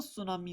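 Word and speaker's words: tsunami: Okay, ये टी जो है साइलेंट है और उसकी जो प्रोनाउंसिएशन है वो सुनामी है।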